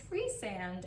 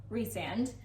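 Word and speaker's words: Rhysand: brain did and then i found out no his name is free sand and it's rhys for sure so resand um and feyre in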